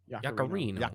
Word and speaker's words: Yaccarino: Yaccarino.